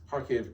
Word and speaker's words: Kharkiv: kiev clarissa ward also hearing steady blast in kharkiv or kharkiv harcave uh is how she is pronouncing it there and that just happened moments